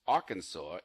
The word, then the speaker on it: Arkansas: Apparently, it's strictly prohibited to pronounce Arkansas incorrectly while you're in the state.